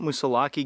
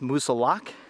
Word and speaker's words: Moosilauke: And to this day, there's still a lot of debate whether it's pronounced Moosilauke or Moosilauke. I prefer to say Moosilauke. I just think it's a lot more fun.